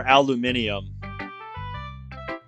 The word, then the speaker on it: aluminium: Is it, do you pronounce it aluminum or aluminium? Is that what you were doing? Is that what you were getting at there, Bradley? Because I know I've heard some people pronounce it as aluminium.